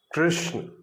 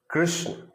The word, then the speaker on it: कृष्ण: यही वर्ण सुनाई देगा तो देखिए वृक्ष कृष्ण वृक्ष कृष्ण यह इसका सही उच्चारण है ना कि वृक्ष कृष्ण इतने सारे उच्चारण को